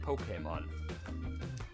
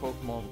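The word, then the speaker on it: Pokémon: So today's topic is Pokemon, or how some people like to call it Pokemon, but it's pronounced Pokemon.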